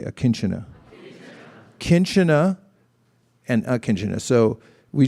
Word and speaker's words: akinchana: the teachings of bhakti called akinchana everyone say akinchana kinchena and akinjuna so we just said akinchana